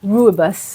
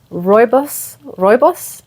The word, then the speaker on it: Rooibos: Rooibos. I was calling it Rooibos tea. My South African friends, thank you so much. It was Rooibos?